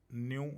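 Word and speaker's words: ν: Lambda, frequency को हम न्यू से दिखाते हैं, न्यू इसकी प्रोनाउंसिएशन।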